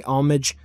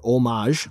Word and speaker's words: homage: original ideas and definitely pay homage or omage whatever you prefer to call it or even pronounce it and hey Super